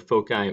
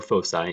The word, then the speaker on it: foci: from two fixed points which we pronounce either a foci or foci either way has a constant sum